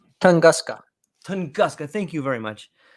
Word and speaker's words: Tunguska: the Yucatan Peninsula, or the how do you pronounce that again? And the one in Russia, the Tusconga, or Uh, I forgot what that was called again. The I think it's northern Tunguska. Tunguska.